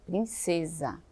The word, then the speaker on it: princesa: com essa com s princesa tem um som de z muitas vezes confunde por